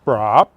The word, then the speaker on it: Braaap: This bike is a Braaap, excuse me. No, it's spelled with 3 A's, most unusual.